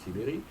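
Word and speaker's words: Tiberj: y a quelques mois déjà, qui s'appelle Vincent Tiberi, ça s'écrit Tiberge, mais ça se prononce Tiberi, qui dit au fond la société n'est pas à droite.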